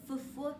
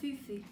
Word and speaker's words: fufu: The Fufu challenge, yes. That's how you say it, not Fufu, Fufu.